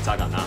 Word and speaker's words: 扎尕那: 们又到了扎嘎纳。这个字虽然读作嘎，但你打嘎绝对不会出现。